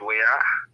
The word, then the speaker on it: Weir: Weir, not Weir. Oh, well, I see the way you are. The WRAH. Yeah. I know. But I see Weir, but it's pronounced Weir, even though the E is the difference.